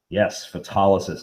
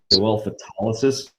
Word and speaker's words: photolysis: root for light is photolysis i even pronounced correctly nicely done okay the stress for that word is in the middle photolysis very nice what this